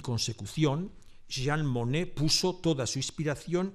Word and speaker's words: Monnet: Data de 1874 y su autor es Claude Monet, con una sola N, que aunque su apellido se pronuncia igual, no tiene ninguna relación con Jean Monnet, con dos Ns, que es el protagonista de mi intervención.